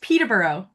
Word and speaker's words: Peterborough: I'm going to turn it over to Terry, and it's pronounced Peterborough.